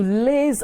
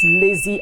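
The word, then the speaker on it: laze: being a couch potato means to liz about l-a-z-e not lazy about l-a-z-e about not l-a-z-y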